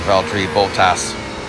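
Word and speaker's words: Valtteri Bottas: driving me crazy man valri Bolas as the British will say they really emphasize the end which is not necessarily how you say his name but oh well that's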